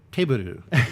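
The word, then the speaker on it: Teburu: games and plastic but taboo table the weird kind of katakana pronunciation of table so this is an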